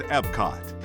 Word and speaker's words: Epcot: the Magic Kingdom is Epcot where the magic of Disney meets the wonders of the real world in two themed lands future world and World Showcase we call it Epcot it's spelled e-p-c-o-t experimental prototype community of